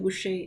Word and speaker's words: Muxe: Now, the spelling of Muxe is M-U-X-E, but it's pronounced Muxe, which is a derivative of mujer, which means woman in Spanish.